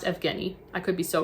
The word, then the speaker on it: Evgeny: It looks like Eugene, but I'm pretty sure it's pronounced Evgeny.